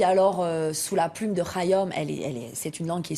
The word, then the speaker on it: Khayyam: Voilà, d'Omar, j'allais dire Khayyam, mais on dit Khayyam. Oui, Omar Khayyam, et vous pouvez dire Khayyam, vous pouvez le prononcer à la française.